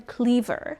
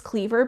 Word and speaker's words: Kliewer: read this book and she called him Kliewer. And she said that his name is Marcus Kliewer because she saw like a panel with him and he pronounced it.